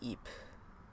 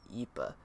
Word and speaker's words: Ypres: Yeep. Like, I'd rather call it yeep because, like, I remember, like, in one documentary, like, they actually pronounced it yeepa.